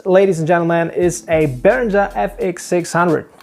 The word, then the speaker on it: Behringer: This, ladies and gentlemen, is a Behringer FX600. Well, actually it's pronounced Behringer, but that's another story.